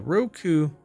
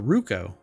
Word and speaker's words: Ruko: Skip flight school and start capturing epic moments with the Roku. Really? Uh, sorry, I pronounced that wrong. It's the Ruko.